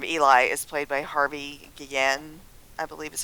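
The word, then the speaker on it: Guillén: Um, the character of Eli is played by Harvey Gueen, I believe is how you pronounce it.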